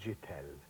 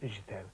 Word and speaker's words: Chittell: Apparently it's French-Hungarian, and the pronunciation apparently is Chittell. Right. Fatal, because I, in my infinite wisdom, informed our main receptionist at Emmerdale that it was French, and said it's, you pronounce it Chittell.